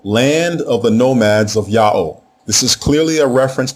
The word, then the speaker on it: Ya'o: If the name was pronounced Ya'u, you would not need to write the lasso glyph plus the quail chick group. You would just end the name with the quail chick by itself. So the name has to be pronounced Ya'o.